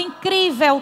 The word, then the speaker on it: incrível: viagem vai ficando incrível a palavra incrível tem acento pessoal toda palavra paroxítona é aqui a sílaba forte é a penúltima que aqui é o cri terminada em L são acentuadas incrível impossível amável notável amigável